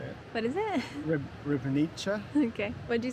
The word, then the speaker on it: Ribnica: Ribnica.